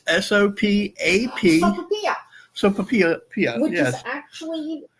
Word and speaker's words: sopapilla: So I'm going to spell it for you. It's S-O-P-A-P. Sopapilla.